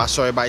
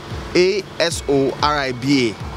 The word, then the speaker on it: Asoriba: Okay, so to access the mobile app, you go to the Play Store and search for Asoriba. It's spelled A-S-O-R-I-B-A, not R-E-B-A, R-I-B-A, Asoriba.